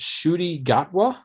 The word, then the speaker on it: Ncuti Gatwa: I believe it's pronounced Ncuti Gatwa.